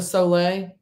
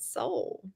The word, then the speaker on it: Soleil: I always pronounced it Soul. Is it not? Is it Soleil? It I might don't be know. I heard Soleil because I use Soleil because I'm like, is salt that the water.